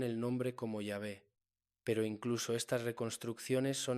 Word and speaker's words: Yahvé: Entonces, ¿cuál es la pronunciación correcta? Los eruditos modernos han propuesto varias posibilidades, siendo las más aceptadas Yahvé o Yahweh, basándose en testimonios de escritores antiguos